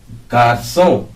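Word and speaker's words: garçons: देखिए, S silent ही रहेगा, इसमें भी साइलेंट ही रहेगा, दे जोम पढ़ा जाएगा और इसको दे गार्सों। जी वोवल नहीं है, इसलिए एस इसके साथ नहीं जुड़ेगा, तो इसको पढ़ा जाएगा दे गार्सों, कुछ लड़के, कुछ लड़के।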